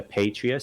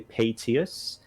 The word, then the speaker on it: Paetius: Speaking of names going out of your head, I actually called this character Patrius several times. It's actually Paetius.